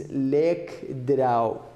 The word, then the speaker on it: lekdraw: Compound, it means lekdraw. Lekdraw, it means joined together. Good. How we pronounce it is like this. Lekdraw.